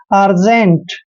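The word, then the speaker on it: urgent: Next है यू आर जी ई एन टी, देखिए यू के बाद दो कॉन्सोनेंट आए हैं तो यू का उच्चारण ए करना है, इसको पढ़ेंगे अर्जेंट।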